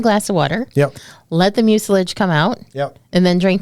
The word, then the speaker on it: mucilage: Help me with the pronunciation, Stacy. Mucilage? Mucilage, yeah. Mucilage. Mucus. It's mucilage. It's not mucus.